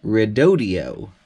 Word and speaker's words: Redodo: 1 we've got a new battery here from rodio and I have it under good authority that that is how you pronounce it is their company rep provided a